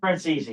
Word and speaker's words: Francesi: Did I say that correctly? Francesi. Francesi. How do you say it? Francesi.